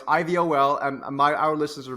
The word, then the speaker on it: iVol: another one as well not eyeball yeah I I have it's I like inflation volatility or interest rate volatility iBall exactly think ivol our listeners should be you say it right I of all yeah no no it's ivol and my our listeners